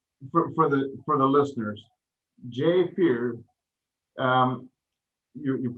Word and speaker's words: Fuhrer: And as we wrap up, I'd just like to say, for the listeners, Jay Fuhrer, you pronounce his last name Fuhrer, but it's spelled Fuhrer.